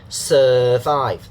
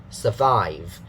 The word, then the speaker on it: survive: So some people say survive. The sir is wrong for the first syllable. Okay, it's not sir, it's survive. If you say survive, it's a bad version. Actually, they use another sound, the sound. Okay, it's wrong because they see the UR.